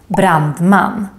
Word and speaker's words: brandman: And then finally, you can hear the grave accent, the accent that goes up, down, up, in words with two syllables with typical Swedish ending, such as pojke, rolig, and also in compound words, two words put together, such as lastbil, sjukhus, brandman. And also in this group,